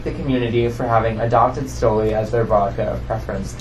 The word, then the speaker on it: Stoli: Stoli. It's Stoli. Just Stoli.